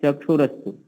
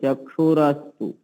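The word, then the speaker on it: चक्षुरस्तु: चक्षु रस्त एक तो इसका उच्चारण हम लोग ठीक कर ले क्योंकि इसका उच्चारण प्राय लोगों का गलत ही होता है अक्षण रोण नोर में तो नोर में ये ध्यान रखें अक्षर में चक्षु रस्तु चक्षु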